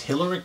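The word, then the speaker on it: Hillerich: They say H&B, which I believe is Hillerick, and that's how it's pronounced, and Bradsby, if they made these.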